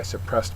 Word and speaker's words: suppress: not really violent but suppress uh is a verb second syllable is accented it means to stop